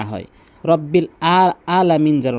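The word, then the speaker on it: العالمين: আলহামদু না হয় রব্বিল আলামিন যেন না হয় বলতে হবে আলামিন এবং এখানে অবশ্যই তিন আলিফ টানবেন মিন তাহলে প্রথম আয়াতটি ভালো করে বারবার প্র্যাকটিস করবেন আলহামদুলিল্লাহি রব্বিল আলামিন এরপর পরে আসুন আর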